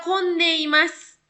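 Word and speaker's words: 込んでいます: Oke, kita lihat di contoh kalimat yang pertama ada michi ga kondeimasu. Michi ga kondeimasu. Ini karena ketemu sama hiragana dibacanya ko ya. Ko kondeimasu. Michi ga kondeimasu.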